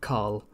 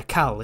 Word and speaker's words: Khal: Carl in the chat said, I love when Brits say Carl, because it sounds like Carl, and I can then imagine the epic also. Oh, sorry, yeah, Cal. It should be Cal, right?